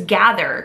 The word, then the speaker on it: gather: We have 2 syllables, and I'm noticing a digraph in the middle. We have that TH sound. V, v. Ooh, and that is our voiced one.